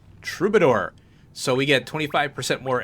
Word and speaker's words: troubadour: And I had to look that up and make sure I'm pronouncing it correctly. Troubadour.